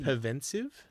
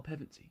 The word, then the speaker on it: Pevensey: Anyway, so in the year 1000, fuck, I always forget how to pronounce these kids' names. The bloody Pevensive? Oh, Pevensey.